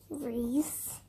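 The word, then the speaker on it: Rhys: Reese. No, Reese is your first name. Michael? Yep. Do you know how to spell that?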